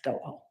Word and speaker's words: Doel: And I know it's pronounced Dole because somewhere else I read that it rhymes with Noel. So it's Doel.